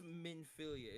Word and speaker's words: Minfilia: of the mother word manilia are you saying it you might be saying it wrong what are you meilia meilia m i n f i l i a probably not from 15